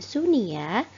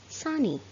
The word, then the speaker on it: sunny: atau cuaca panas nah cara membacanya bukan shuniyya tetapi soni soni nah Sony merupakan cuaca